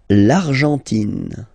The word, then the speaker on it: l'Argentine: L'Argentine. Okay, so you've got this nasal here, en, l'argent, and then tin. Don't pronounce the final E, it just gives you the pronunciation of the N, in.